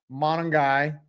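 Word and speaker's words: Monangai: It was given to Monongai.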